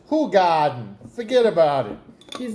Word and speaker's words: Hoegaarden: Is that like the German Brooklyn pronunciation? Garden? Garden? Yeah. Yeah, it's Hoegaarden.